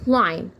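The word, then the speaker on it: climb: هي تتسلق الشجره يبقى خلي بالي ان حرف الام اذا جاه بعد منه حرف البي بيكون عندي سيلن ليدر حرف صامت ما بنطق تمام كده لكن حرف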